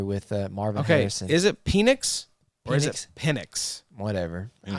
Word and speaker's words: Penix: Did you just say Panics? Like with like Panic at the I'm Disco? trying to really put the long E in the E. Penix. It just depends on where you put the pronunciation, like where you put the emphasis on the wrong syllable.